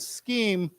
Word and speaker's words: scheme: plan yeah now remember this word scheme is pronounced with a k sound okay let's say it